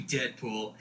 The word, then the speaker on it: Deadpool: Call me Deadpool. It rhymes with no school.